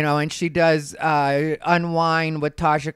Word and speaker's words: Unwine: and she does uh unwind with tasha k and i didn't mispronounce unwind it is unwine you know her thing